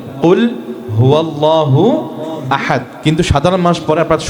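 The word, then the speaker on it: قل هو الله أحد: সাধারণ মানুষ যারা আছেন, তারা পড়েন কুল ফুয়াল্লাহু আহাদ। এটা হচ্ছে ওনাদের উচ্চারণ। আমরা যারা মাদ্রাসা পড়াশোনা করেছি বা পড়াশোনা করি, আমরা জানি এটা হবে কুল হুয়াল্লাহু আহাদ।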